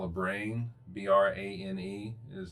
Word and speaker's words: brane: is what is on what you call a brane. BRANE is how it is spelled.